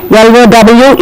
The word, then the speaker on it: low: And this is a semi-vowel, because of which L-O-W is read as low, F-L-O-W, flow, L-O-W, law, C-L-O-W, claw.